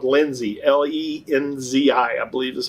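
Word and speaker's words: Lenzi: insole, is a compound or a material called Lindsay, L-E-N-Z-I, I believe is how it's spelled.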